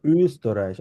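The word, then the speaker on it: Österreich: জার্মানায় কিভাবে বলা হয় এটাকে ছোট্ট গোল থাকবে অনেকটা ও যখন আমরা উচ্চারণ করব উ করে উচ্চারণ করবো আমরা বলবো হচ্ছে উস্তরাইশ আবার ট্রাই করো উস্তরাইশ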